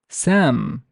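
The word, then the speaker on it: سام: I would pronounce this as Sam, Sam, Sam. Do not focus on the s, but focus on the alif, on the ah sound. Sam, ah.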